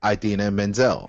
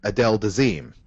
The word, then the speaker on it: Idina Menzel: that uh you know John Travolta cannot pronounce uh the name uh Idina Menzel and pronounced it Adel deim what the hell does